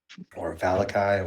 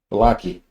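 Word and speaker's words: Vallaki: Valakai, or we pronounce it Valaki.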